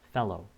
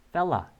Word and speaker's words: fellow: fellow, fella 라고 읽기도 하죠. 짧게.